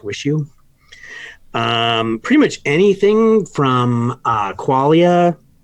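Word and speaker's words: WIXIW: called the seer liars particularly this album called wish you which is spelt wi x IW but it's pronounced wish you pretty much anything from qualia grails or apps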